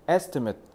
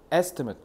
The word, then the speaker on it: estimate: 근데 요거는 estimate estimate 잡봐. 발음 다시 해 볼게. Estate estmate estmate 해서 뒤에다 주면 그리고라고 발음하면 동사. 네. 앞에다 강세를 주고 뒤에를 이렇게 발음하면 명사야.